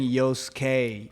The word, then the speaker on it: Yoskay: yeah because I'm so you're saying Yosuke which is like American sounding yeah so but the